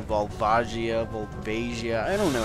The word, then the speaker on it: Volvagia: Even though there's an IA, so that would denote that I am almost definitely wrong in my pronunciation, but I don't care.